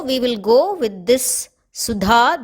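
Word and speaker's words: सुधा: is nectar or amam it is important to note that we pronounce it as DHA the fourth da not as ta because if we say it as sutta then it means means daughter in one of the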